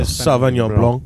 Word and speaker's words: Sauvignon Blanc: So this one you have here is a Sauvignon Blanc. Correct. And Did I say it right? yeah. Yes. Nice. The French like to leave off the C, so Yeah. Sauvignon Blanc.